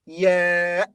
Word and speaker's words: ي: yeah has two pronunciations the first is as in yes yes the second is ee as in cheese so it's considered a